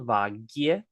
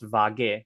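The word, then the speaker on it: વાગ્યે: It's spelled vagye with like a Y sound, vagye, but it's usually pronounced vage when we're talking relatively quickly.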